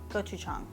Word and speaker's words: gochujang: for the gochujang, yeah, I think I said jang before, gochujang.